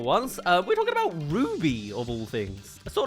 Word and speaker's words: RWBY: The 3D animated web series, spelled out as RWBY, but pronounced as Ruby, was an indie animated powerhouse from the mid2010s.